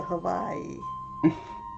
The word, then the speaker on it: Hawaii: Van Mortis says to pronounce Hawaii, pronounce the W as a V. So Hawaii.